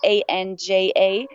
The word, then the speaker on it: Anja: And important, Anja is spelled the German way. So it's Anja, Hmm.